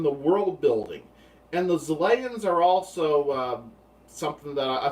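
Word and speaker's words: Xelayan: Their name is Zelayan, spelled with an X, so maybe it's supposed to sound more Z-like, Zelayan. Although sometimes it sounds like they're saying Salayan, with an S, the way it's pronounced. It's hard to tell, like the way it was pronounced in the show, I thought. But it's spelled with an X. So, Salayan? It should be Zelayan, I guess.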